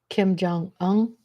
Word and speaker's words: Kim Jong-un: How do you pronounce his name? Let's get his name right. Kim Jong-un.